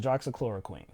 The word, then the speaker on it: hydroxychloroquine: So the drug I'm talking about is hydroxychloroquine. I believe that's how you say it. No, you guys said it right. Right, hydroxychloroquine.